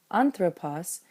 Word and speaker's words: ἄνθρωπος: for accent, where we saw that anthropos could have its acute on the first syllable because it was comfortable with the short syllable at the end.